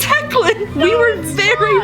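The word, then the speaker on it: Hoechlin: last name we do not know how to pronounce um and we have tried hoachlin hawklin coachella we've tried so many different things i found out how you say it it's hecklin tyler eckland no it is not i looked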